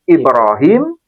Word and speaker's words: Ibrahim: Tapi cara pelafalan diizinkan oleh Nabi dilafalkan dengan cara baca Ibrahim dengan cara baca Ibraham. Ini sama-sama versi bahasa Arab.